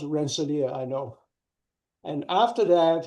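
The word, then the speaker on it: Rensselaer: Uh but but it's pronounced Rancelia.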